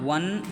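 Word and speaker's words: one: आई सा खाली स्थान वन आइड मैन। तो इसमें दोस्तों देखिए ये तो लिखा हुआ है स्वर लेकिन जब इसका उच्चारण करेंगे आप तो इसका उच्चारण व्यंजन में चालू होगा।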